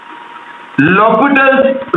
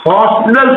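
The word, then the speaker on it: L'Hôpital: come then we use lopital's rule i agree the spelling of because h is silent but some persons name it as a hostile rule but it is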